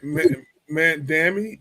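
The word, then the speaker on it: Mamdani: M man Dami, that's how you pronounce his name.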